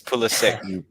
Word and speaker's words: Pulisic: It's Pulisic because he pronounced it Pulisic. That's hilarious. He said it himself.